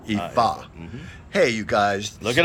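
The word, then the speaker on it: Ifá: if a ea I F A but it's pronounced with an EA right EA hey you guys look it up check it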